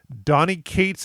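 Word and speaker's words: Donny Cates: myself because I think I said it wrong Donnie Kates is the writer Ryan Stegman is the artist that they combined and created did null and it did a really wonderful run on Venom and Donnie Kates was the one I was talking to that's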